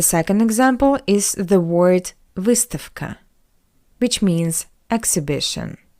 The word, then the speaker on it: выставка: And the second example is the word выставка, which means exhibition. The voiced consonant V stands before the voiceless consonant K. That's why we pronounce V as its voiceless analog F.